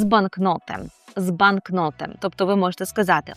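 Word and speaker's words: banknot: Банкнот - це означає банкнот. Так, зверніть увагу на наголос банкнот.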